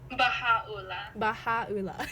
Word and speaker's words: Baha'u'llah: Is Baha'u'llah? Baha'u'llah.